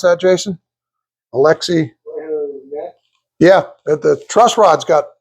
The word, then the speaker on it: Alexi: How do you pronounce that, Jason? Alexi.